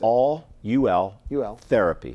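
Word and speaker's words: Ultherapy: Is it all therapy? How do you pronounce it? It's all UL therapy.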